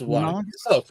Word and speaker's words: Wanagas: It's Wanagas. Close. Wanagas. Wanagas.